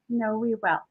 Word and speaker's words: KnoWEwell: KnoWEwell.